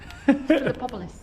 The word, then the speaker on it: Philippopolis: Epilatral Ionic capital from the western necropolis of Philippopolis. There we go. From the 2nd and 3rd You just gotta break century. it down. Philippopolis.